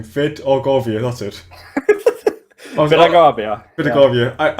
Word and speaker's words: Vidargavia: Vidargavia, that's it.